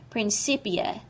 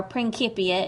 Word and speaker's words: Principia: in his famous work Principia, or Principia if you prefer the Latin pronunciation, published in 1687.